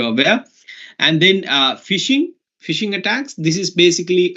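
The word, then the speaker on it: phishing: much more serious attacks fishing is like you know the first point of the attack right it sounds like uh fishing right although it is spelled differently it's also sounds like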